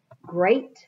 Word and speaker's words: great: Great bracelet, notice it's different letters, it's the EA makes a long A sound in great.